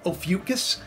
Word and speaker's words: Ophiuchus: Now, you know, it's pronounced Ophiuchus, by the way, Case, just in case you're watching.